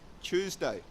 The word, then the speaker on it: Tuesday: first one is Tuesday so it's not - its day two is day is incorrect the British pronunciation is Tuesday Tuesday and it's actually a combination of choose and day if you can say choose and day you can say Tuesday okay in American English